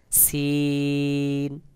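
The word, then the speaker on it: سين: সিন উচ্চারণের ক্ষেত্রেও বাহিরের দিকে বাতাস বের হবে, তবে আওয়াজটা পাতলা মতো করে হবে, যেমন দেখুন, সিন সিন।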